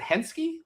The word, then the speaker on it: Henske: So, welcome to the stage, without further ado, Tom and I'm going to Is it Henschke?